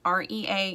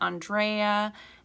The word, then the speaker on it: Andrea: andrea a n d a-n-d-r-e-a you can pronounce it andrea andrea that's fine too i don't care how you pronounce it i'm not picky